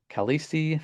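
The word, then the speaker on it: Khaleesi: Kalesi, that's how you say her name.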